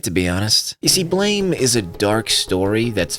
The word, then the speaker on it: BLAME!: blame sometimes called blam blammo or some other variation of a mispronunciation is a manga from